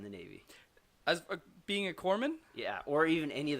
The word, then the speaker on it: Corpsman: out of 3 presidents so far have said Corpsman correctly, so I'm real proud of you on that one. I know. Really, how big of a deal is that in the Navy? As being a corpsman?